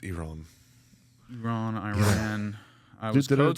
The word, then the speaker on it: Iran: date on it but it's pronounced Iran Iran Iran I was